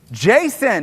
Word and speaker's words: JSON: Jason, it's Jason. Who said JSON? The A is implied.